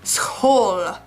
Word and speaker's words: school: exists in English except you're supposed to pronounce it Skoal and I got that one down because I practice it like all the time because ik kom naar school, mijn kinderen gaan naar school.